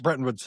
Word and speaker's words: Bretton Woods: how you pronounce it, the Breton system or Brenton system, like The Bretton Woods. Bretton Woods system, yeah.